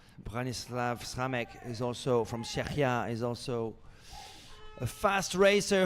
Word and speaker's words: Czechia: Branislav Sramek from Czechia. I've been told to pronounce Czechia.